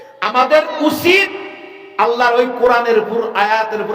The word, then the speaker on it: আল্লাহ: অনেকেই বলেন নাই, একটু পরিষ্কার করে শুদ্ধ করে সুন্দর করে বলেন আল্লাহ। আবার বলেন শব্দটা উচ্চারণ আল্লাহ। আল্লাহ না, আল্লাহ তো কিউ বা কেন, আল্লাহ শব্দটা আল্লাহ। আমার আল্লাহ এমনই এক মাবুদ,